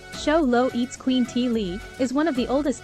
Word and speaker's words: Xoloitzcuintli: Show Low at squintly pronounced Show Low eats Queen T Lee is one of the